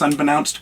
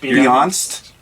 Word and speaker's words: unbeknownst: Did I pronounce unbeknownst correct, or is it You are correct. Beyonst?